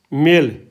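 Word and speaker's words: male: है ना कंसोनेंट है जैसे अब देखो मेल एम ए एल ई मेल तो यहां पर साइलेंस रहेगा य बोला नहीं जाएगा इसको य पर क्या ये क्या है कंसोनेंट है इससे पहले जो वल है कट से पहले जो वल होगा ना उसकी धवनी जो है लंबी हो जाएगी जैसे मेल मेल तो ए जो बना बड़ा हो गया मेल ई नहीं बोला गया लेकिन इसके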